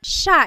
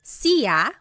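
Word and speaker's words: siya: look at the spelling it looks like it should be pronounced CIA but it's actually pronounced Sha Sha there are some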